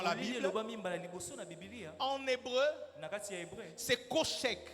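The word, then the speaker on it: חושך: Bible, en hébreu, c'est koshek. Je ne sais pas si je le prononce bien, mais ça s'écrit C-H-O-S-H-E-K. Koshek. Ça se lit koshek.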